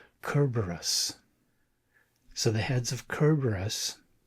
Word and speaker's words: Cerberus: What I'm following and I I don't know that I'm pronouncing the Greek correctly, but from what I'm seeing online, it's pronounced something like Kerberus.